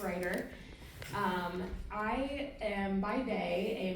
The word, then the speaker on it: Rajir: bit I'm Ryder last name is spelled a little funky but it's a lot easier to say it's just Ryder um I am by